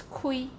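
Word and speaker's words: 開: Kai, I mean in Chinese, in Mandarin that's kai, but in Taiwanese Southern Min it's kui, kui. Can you feel the H sound? I mean the aspiration, kui.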